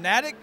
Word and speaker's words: Natick: I'm wrestling tonight in Natick, Massachusetts. I believe it's how you pronounce it. It's Natick. Natick. I thought it was Natick, and I heard.